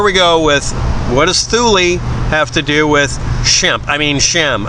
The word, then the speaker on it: Thule: norway iceland whatever thule t-h-u-l-e thule that's how it's supposed to be pronounced i've been told that angrily at by the people who make the little uh boxes you put on your car they're called thules it's not full apparently um anyway here we